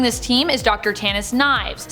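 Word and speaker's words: Nieves: sniper also joining this team is Dr Tannis knives spelled neaves but pronounced knives FYI she is bonded to the scoring symbiote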